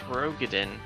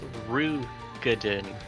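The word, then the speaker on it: Roegadyn: Apparently it's not pronounced Rogadin. It's pronounced Rugadin. Yeah. Not Ro, Ru.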